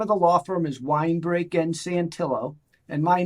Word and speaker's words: Winebrake: so the name of the law firm is wine break and santillo and my name is spelled w-i-n-e-b-r-a-k-e and our and our website is